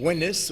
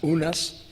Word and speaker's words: Unas: It may correspond to the name Winis, or usually pronounced Unas, by those who transliterate it from the Egyptian.